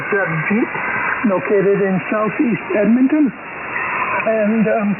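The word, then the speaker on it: Jagjit: I'll spell it for you. Juliet Alpha Germany Juliet India Tango. Pronounced as Jadjeet.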